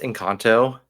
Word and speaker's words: Encanto: have a hot take feeling hotot hot it's pronounced incanto I need people to stop calling it incanto